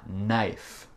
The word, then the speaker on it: knife: Quelques autres mots avec le K muet, juste pour vous. On a knee, le genou, et on a knife, un couteau.